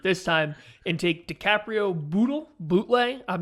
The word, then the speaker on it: Bootle: time and take DiCaprio Bootle. I'm not sure which. I really need to figure this out. It's Bootle. Greg calls it bootleg, but I've been pretty sure it's Bootle this whole time.